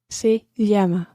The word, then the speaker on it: se llama: her name is you also say se llama see yama okay one thing to point out here the